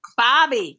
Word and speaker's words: barbie: I got to go down under and go have some shrimp on the Barbie. That's right. Bobby. Gotta say it right. The Bobby.